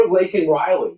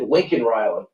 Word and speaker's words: Laken Riley: Remember Laken Riley? Remember when Marjorie Taylor Greene said, say her name? He said Laken Riley, and he said Lincoln Riley.